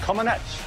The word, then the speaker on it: Comaneci: Okay, at the 1976 Olympic Games in Montreal, gymnast Nadia Comaneci. What is it? I actually interviewed Nadia once. I asked her how to say it. She said Comaneci. Comaneci.